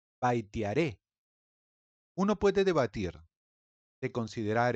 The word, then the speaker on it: Vaitiaré: Se llamaba Baitiare y es mi deber revelarles a todos aquellos de ustedes que viven en la ignorancia que no se pronuncia baitiare, sino aún más hermoso, baitearé.